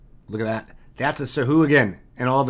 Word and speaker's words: Sahuagin: I think Sahuagin is kind of how I sounded it out in my brain, but Sahuagin is how the official pronunciation is. You can, of course, say it however you like, but that is what it is.